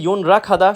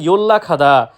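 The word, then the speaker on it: 연락하다: ইয়োল্লা খাদা মানে যোগাযোগ করা। এটা যদি কেউ উচ্চারণ করে ইয়ন রা খাদা, সম্পূর্ণরূপে ভুল। সঠিক উচ্চারণ ইয়োল্লা খাদা মানে যোগাযোগ করা।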